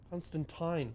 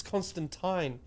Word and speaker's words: Constantine: No, not Constantine. Constantine. Oh, fuck off. That's how they pronounce it. It's Constantine.